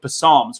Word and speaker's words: psalms: we all know or he forgot the p is silent or he's so he's